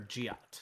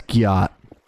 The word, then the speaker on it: gyat: Is it Gyat or Giat? Yeah, it's Gyat. Gyat, okay. Gyat, like you gyat something.